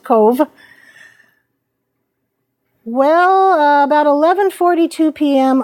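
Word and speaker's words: Cobh: its name to cove it's pronounced cove well about 11 42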